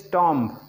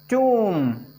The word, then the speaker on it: tomb: Most of the time people say this tomb. It is completely wrong. आपको समझ में आ रहा होगा कितने गलत pronunciation किए जाते हैं। This is tomb. Be silent.